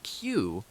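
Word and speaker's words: queue: pronounced Q, the word retains the same sound even when its last four letters U E U are removed, leaving just the letter Q.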